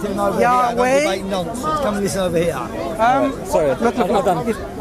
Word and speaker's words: Yahweh: The Hebrew is Yahweh. Yahuwah. And it's not Yahweh.